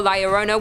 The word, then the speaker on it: La Llorona: Hailing from Hispanic folklore, La Llorona, which I'm pronouncing correctly now after you guys yelled at